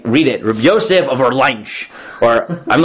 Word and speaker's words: Orleans: Yes, Orleans. That's how you pronounce that, right? I've heard people pronounce it in all types of weird ways. Orleans or Orleon, right? Whatever. It's like New Orleans.